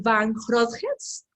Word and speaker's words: van Grootgeest: Es un poco complicado pronunciar tu apellido, Shur Van Grootjes, creería, Muy pero bueno.